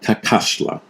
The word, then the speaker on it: Cacaxtla: I pronounced it wrong on the video. It's called Kakashla. And Kakashla is a sprawling messoamerican